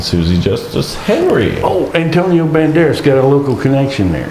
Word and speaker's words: Banderas: yeah and you know Banderas I mispronounced it it was great yeah I said Antonio dambaris but I don't expect